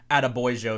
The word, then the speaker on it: Adebayo: State, and then Quincy Adebayo. If you kind of say Attaboy and add an O at the end, I believe that's the right way to pronunciate it, out of Mississippi.